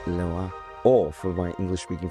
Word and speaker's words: Leroy: We are here with Hugo, Lesizza from Perrelet and Leroy, or for my English speaking friends who have no elegance in their pronunciation, Perrelet and Leroy.